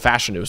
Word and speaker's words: Fashanu: uh he put out there his name is pronounced fashanu so Olu fashanu um he's he's we knew